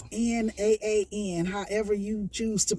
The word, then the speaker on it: naan: It's NAAN. However you choose to pronounce Let's go with naan.